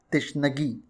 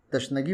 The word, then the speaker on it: تشنگی: حاضر خدمت ہے، اور یہ لفظ ہے تشنگی، جو درست ہے۔ عموماً تشنگی بولا جاتا ہے، جو غلط ہے۔ اسی سے جڑا لفظ